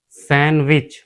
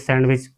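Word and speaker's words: sandwich: Example सैंडविच। अक्सर आपने देखा होगा कि हम सैंडविच सैंडविच बोलते हैं। तो यह सैंडविच नहीं होता। यह हमारा होता है सैंडविच। यहां हमारा डी साइलेंट होता है ये वाला डी।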